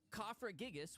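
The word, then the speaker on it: Cofagrigus: it's a ker yep cofra gigas which is actually how it's pronounced Pat is actually the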